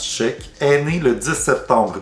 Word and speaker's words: Schaech: Jonathan Sheck, oui, ça se prononce Sheck, est né le 10 septembre 1969 au Maryland.